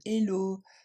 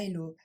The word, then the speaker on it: hello: son c'est le son il faudra du coup bien prononcer le H les Français ont tendance à l'enlever ce nous donne le hello pas hello encore une fois encore